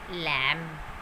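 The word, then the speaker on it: lamb: बी से पहले अगर हमारे पास एम आता है, किसी भी स्पेलिंग में बी से पहले एम आता है तो बी साइलेंट हो जाता है वहाँ पर. फॉर एग्ज़ाम्पल क्लाइम, लैम, थम.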